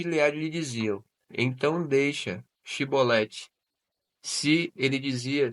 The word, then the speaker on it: Shibolete: Se respondesse que não, os homens de Gileade lhe diziam: Então deixa Shibolete. Se ele dizia Sibolete, não podemos pronunciar corretamente a palavra.